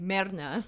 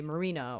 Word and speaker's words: Myrna: Or you want to be like Merna. Okay. That's like the foreign way when my mom's like fucking yelling at me or something. But I would tell everybody it's Myrna because everybody would say my name wrong. They would say Marina or Maria or whatever.